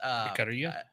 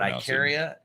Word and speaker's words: Ikaria: It's pronounced Ikaria. Ikaria. Okay. There's different. There's the Greek pronunciation. There's the American pronunciation. I'll let you actually. But Ikaria is good, and I would say Ikaria only because that's what I've said forever. Okay. But Ikaria is fine too.